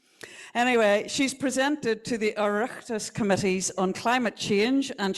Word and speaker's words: Oireachtas: She's a member of a number of advisory groups and has presented to Oireachtas, is that how you say it?